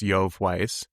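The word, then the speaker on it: Yoav Weiss: Uh, next up is a blog post from Shopify Engineering from I think the name is pronounced his name is pronounced Yo Weiss, but it talks about their process getting import maps to be better.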